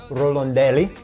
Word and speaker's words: Rorandelli: the content podcast I'm here today with Eva rolandelli that's that's right perect good pronunciation very good who is the founder and